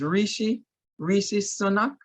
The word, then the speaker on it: Rishi Sunak: With I'm trying to look up the name, is Rishi Sunak. Is that how you pronounce it?